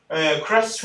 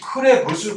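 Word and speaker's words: Krebs: 다 크랩스라고 하고 있는데 크레부스 회로 해가지고 짜증 왜 발음을 꼭 크레부스라고 해야 되는 건지 난 진짜 알 수가 없는데 그렇게 써놨더라고. 어쨌든 옛날부터 이건 크랩스 회로라고 해.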